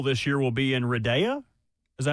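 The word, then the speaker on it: Riyadh: So the Royal Rumble this year will be in Reda. Is that how you say it? In Saudi Arabia. Is it Riad? Riad.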